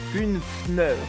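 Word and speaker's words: Kuffner: atteur de startup James kunfer excusez-moi si je ne le prononce mal puisque c'est assez difficile c'est kunfner remplacera donc Andy rubain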